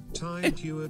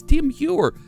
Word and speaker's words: Tim Heuer: Tide Heuer just resubscribed for 2 months. Now, that's the wrong... No. No. You didn't pronounce it right. It's Tim Heuer.